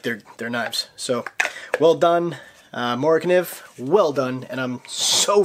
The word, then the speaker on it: Morakniv: So, well done, MORAKNIV. Well done. And I'm so freaking happy that I finally know how to say it. I felt like such an idiot before. MORAKNIV.